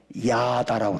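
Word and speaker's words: ידה: 감사라는 말은 히브리어로 야다라고 그래. 야다. 한번 해볼까요? 야다.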